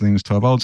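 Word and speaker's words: Linus: konel to V3 and lenus was there or lenus I should say because that's how he pronounces it um and I actually got to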